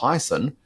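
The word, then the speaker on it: Hiaasen: it was by Kyle I believe his surname is pronounced heison who's the same gentleman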